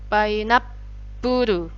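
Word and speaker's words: パイナップル: Kalau ada huruf su kecil jadinya double pu. Puru. Painapuru.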